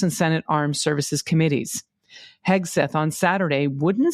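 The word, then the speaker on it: Hegseth: And when I say his name Kegseth, it sounds like I'm saying it wrong because his name is Kegseth, and that's how we've been saying it for almost a year.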